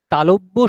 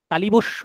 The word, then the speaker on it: তালব্য: রকমের উচ্চারণটা ভালোভাবে শুনুন তালব্য স তালিবস্য নয় তালবস্য নয় তালব্য স কারণ এই স উচ্চারণ করতে গেলে জীব তালু স্পর্শ করছে দন্ত স নয় তয়